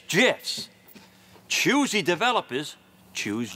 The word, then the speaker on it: GIF: yeah Jess you say gifts it's an acronym acronyms pronunciation is determined by the creator of the set acronym like a proper name in this case the